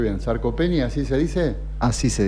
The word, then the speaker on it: sarcopenia: Bueno, y la pregunta de rigor, por lo menos el tema de hoy, a ver si lo pronuncio bien. ¿Sarcopenia, así se dice?